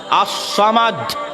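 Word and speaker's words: الصمد: এবং এই সামাদ শব্দের যে তিনটা বর্ণ, সদ, মিম, দাল, এই তিনটা বর্ণ এতটা ভারী, এতটা প্রভাবশালী, এতটা প্রতাপশালী যে শুধু এই তিনটা বর্ণের উচ্চারণ মানুষের হৃদয়কে কাঁপিয়ে দিতে পারে।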